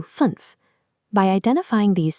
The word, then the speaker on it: fünf: This turns funf into fünf.